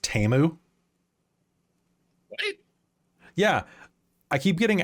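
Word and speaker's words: Temu: or go on on did you know that teu is pronounced TAMU what yeah I keep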